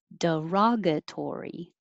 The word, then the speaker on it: derogatory: 22, derogatory. Derogatory. Ra is the stressed syllable, so open a lot, ra, and make it longer duration.